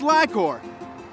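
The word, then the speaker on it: LI-COR: It's pronounced Lycor. And, yep, I'm running late. Come on. Well, this is Angie Hofschneider. She is a vice president here at Lycor. And tell us what Lycor is all about, Angie.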